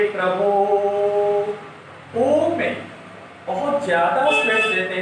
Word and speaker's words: ओम: बहुत सारे बच्चे इसको ई समझ लेते हैं और बोलते हैं सर ये क्या है, ओईम है, ओईम, ई नहीं है। ये ओ में 3 मात्रा का द्योतक है, इसके उच्चारण में 3 मात्रा का समय लगाना है। इसलिए ओम, ओम में ओ के उच्चारण में हम लोग ज्यादा समय लगाते हैं, प्रभु में ओ के उच्चारण में लगाते हैं। ये प्लुत स्वर कहलाता है।